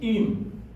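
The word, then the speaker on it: עם: that's a final name okay so it is IM IM IM means with okay ye you hear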